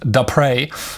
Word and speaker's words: Depré: It's a French name. Sorry again for the last name. He says it's pronounced Depré.